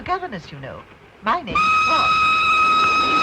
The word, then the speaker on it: Froy: My name's Froy. Did you say Froy? No, Froy. Not Lindsay. Froy. I'm sorry, I can't hear. It rhymes with joy.